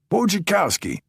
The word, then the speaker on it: Wojcikowski: Uh Wojcikowski. Pronounced like watch your car key.